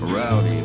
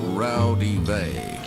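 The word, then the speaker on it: Raudive: And the most complete source book is a book called Breakthrough by Constantine Rowdy. That's actually pronounced Rowdy-Vey.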